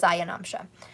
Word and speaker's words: ayanamsha: aya okay a ya it sounds like it looks like it's spelt like aya but it's ayanamsha um and lahiri is